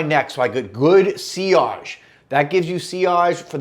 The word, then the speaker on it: sillage: know what ciage is it's spelled I'll put the word on the screen s-i-l-l-a-g-e it looks like sillage to us uh English speakers ciage is the kind